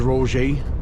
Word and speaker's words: Roget: So we're coming into Roger, I think that's how you say it, or Roget, as it's spelt, Roget. I never thought I was saying it like that before, but anyhow.